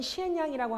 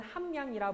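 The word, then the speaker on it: 咸陽: 자, 진나라의 수도는 시엔양이라고 합니다. 한자 발음으로는 함양이라 부르고요.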